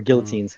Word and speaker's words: guillotine: Or guillotines, however you fucking want to pronounce it. Why are you trying to be like me? Stop changing the word. I'll be honest, I can't remember which pronunciation it is for some reason. It's guillotine.